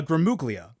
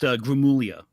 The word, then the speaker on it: Gramuglia: terms of controversy certainly um is uh guglia did I say that correctly uh almost uh no one gets it right the first time so I had completely understand it's actually um pronounced gulia gulia the G is it's an Italian weird